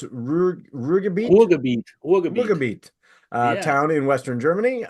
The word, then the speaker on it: Ruhrgebiet: He's now living in how do we pronounce Ruhrgebiet? Ruhrgebiet, Yeah.